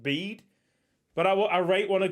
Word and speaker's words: Bede: I'm pretty sure it's pronounced Bede, but I rate want to call him Bede.